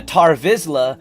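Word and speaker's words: Tarre Vizsla: It was Tar Vizla who created the dark saber.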